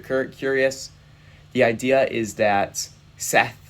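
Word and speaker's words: Sethe: The idea is that Seth, S-E-T-H-E, I pronounce it Seth, it might be Sethi.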